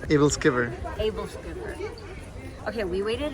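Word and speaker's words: æbleskiver: How do you say this? Kibble skiver? Able Skiver.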